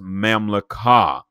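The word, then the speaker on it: ממלכה: So when we look at the word kingdom in Hebrew, it is pronounced mamlakah.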